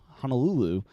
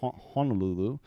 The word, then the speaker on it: Honolulu: So that myth that, Honolulu, or I guess it's not pronounced that way, but Honolulu in Oahu is actually not that much more expensive, especially when you compare it to the West Coast.